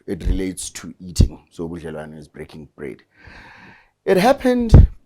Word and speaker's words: ubudlelwano: Tell me about ubudlelwano. I hope I'm saying it correctly. Ubudlelwano.